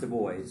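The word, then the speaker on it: Du Bois: T Washington so WB Dubois and it is pronounced the boys I know you would cry safety ball but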